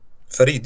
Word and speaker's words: Farid: how do you pronounce that, by the way? Farid, yeah.